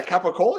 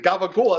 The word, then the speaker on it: capicola: Yeah, capicola. Yeah, absolutely. Yeah, capicola. I love the capicola. Yeah, but Okay. see, gabagola. That's another. That's the American Italian way of saying it.